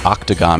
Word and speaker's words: octagon: not like the others the O in octagon is pronounced ah since ancient times the